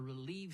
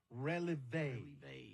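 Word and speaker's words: relevé: It was them dancers that performed from the Relieve Studio Dance Group. Oh, no, son, I think it's pronounced releve. Releve.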